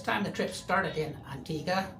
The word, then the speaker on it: Antigua: This time the trip started in Antigga, pronounced the English way, not Antigua, the Spanish way, though spelled like that and usually mentioned with Barboda, but not this time.